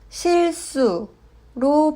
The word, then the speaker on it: 실수: 실수. 앞 글자 실의 받침이 리을이고 뒤에 시옷이 왔습니다. 받침 리을은 르로 발음하고 자음 시옷은 스로 발음합니다. 실수는 실수로 발음합니다.